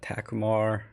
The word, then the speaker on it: Takumar: Arthur is asking, any thoughts on using higher quality higher quality vintage lenses like Leica, Takumar, and Zeiss? I think it's Takumar, not Takuma, right? But I could be wrong.